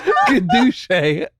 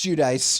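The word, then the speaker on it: Giudice: Theresa Gaduche Gadouche. Hi, I'm Teresa Gadouche. Am I wrong? Yes, it's Judice.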